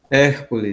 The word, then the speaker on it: Hércules: Como é a pronúncia do Hércules. seu nome? Hércules.